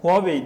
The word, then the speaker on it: Huawei: sitelerinden bakıyorum ne olduklarını Yanılmıyorsam Huawei diye okunuyor Çinliler kendileri başka okuyor sanırım ama hani uluslararası pazarda Huawei diye okuyorlar Bir de xomi diye